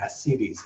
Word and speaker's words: ascites: So what happens is that when a liver gets cirrhotic, like this, it can develop fluid called ascites, A-S-C-I-T-E-S. Depending on where you come from is how you pronounce it.